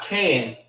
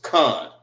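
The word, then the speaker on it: kan: It's not can. It's con.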